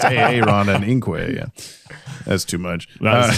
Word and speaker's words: Inque: The second time we have a aon and inquay, but they're spelled correctly and then in parenthesis within the parenthesis they're pronounced aon and inquay.